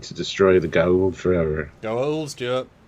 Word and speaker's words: Goa'uld: Goa'uld, Stuart.